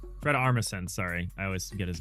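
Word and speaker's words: Armisen: Look at Fred Armistad. Fred Armison. Sorry, I always get his name wrong.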